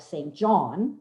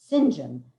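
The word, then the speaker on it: St John: and his given name it looks like saint john but it's pronounced sinjin as he must keep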